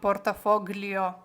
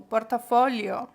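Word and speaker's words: portafoglio: портофоліо і так дивіться не читаємо з вами портафогліо ми вже з вами знаємо що це гліє воно читається якщо правильно як лі тому портафоліо гаманець а тут що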